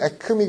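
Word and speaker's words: acme: 있습니다 티스 그다음에 에그미 에그미 이거 발음에 에크미 그든 에크미이 에미의 뜻은요 점이란 뜻이에요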